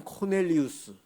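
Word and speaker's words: Cornelius: 원래는 코넬리우스 코넬리우스라고 발음해야 되는데 우리 성경은 고넬리오라고 이름을 부르고 있어요.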